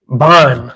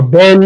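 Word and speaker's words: בן: Ban. It would be ban in the Paleo Hebrew, or ben in the modern, or beni, whichever way you like to pronounce it.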